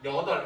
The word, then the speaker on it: 여덟: 자, 발음해 볼게요. 1번, 여덟. 2번, 여덟. 그죠? 여덟 하면 뭔가 멍청해 보이잖아요. 예, 아무도 여덟 이런 거 발음하지 않아요. 예, 얘는 뭐라고 발음된다? 여덟. 아, 이걸 보니까 리을 비읍 받치면 원래 뭘로 발음된다? 리을로 발음되는구나.